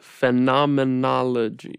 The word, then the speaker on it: phenomenology: field of phenomenology that's a big word phenomenology that is six syllables I know that's too